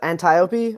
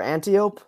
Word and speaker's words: Antiope: Pronounced 2 different ways. I went with Antiope or Antiope, one of the two.